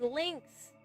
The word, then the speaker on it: Lynx: From Linux. Oh, P.S. This happens a lot when people say my name. It's pronounced Lynx. Ah, aka the cat Lynx.